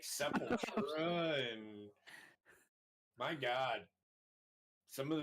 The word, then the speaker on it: Sepultura: I always thought that was called Sepulchra for some reason. Sepultura? Yeah, the Sepulchra. Sepultura. It's Sepultura. I know. I didn't know it was like pronounced that way.